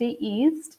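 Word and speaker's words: yeast: know East is so the pronunciation of ye AST East is East alright so this is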